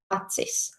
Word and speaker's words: acis: For example, in Lithuanian akis, it's eyes, but in Latvian acis. And in Lithuanian gerve, I'm sorry for my pronunciation, but in Latvian it's dzērve.